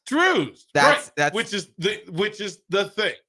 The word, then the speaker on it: Drozd: The technical, according to my dad, it's Drews. Drews. That's which is the thing. Right? Right? It's almost like it should be spelled like with a double O, like an Yes.